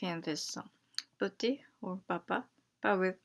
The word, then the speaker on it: petit: Usually the last consonants are silent, like gong and petit.